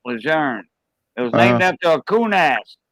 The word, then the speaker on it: Lejeune: camp lejeune camp lejeune i'll say june it's countless years that's how you say it it's french camp lejeune it was named after